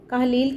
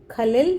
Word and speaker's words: Kahlil: इसका नाम लिखा है कहलील की जगह लिखा है खलील जिब्रान तो बच्चे इसके नेम के स्पेलिंग को लेकर बहुत कंफ्यूज होते हैं। तो मैं यह आज आपकी दुविधा दूर करती हूं। एक्चुअल में क्या था? यह खलील जिब्रान ही था।